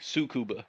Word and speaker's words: Tsukuba: Tsukuba, Takuba. Oh, Sukuba. No, don't pronounce the T. Sukuba.